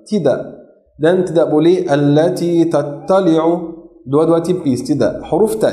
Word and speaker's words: تطلع: Tattali'u, huruf ta sama huruf ta makhrajnya sama, tapi sifatnya beda. Tidak, ya, tempatnya sama, tapi sifatnya beda. Karena itu tidak boleh membaca allati tattali'u. Tattali'u dua-dua tebal.